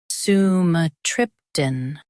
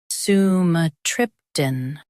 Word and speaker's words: sumatriptan: SUMATRIPTAN. Now read the syllables shown on the screen naturally. Su, m, trip, tan. SUMATRIPTAN. Emphasize trip and keep tan light. Su, m, trip, tan. SUMATRIPTAN.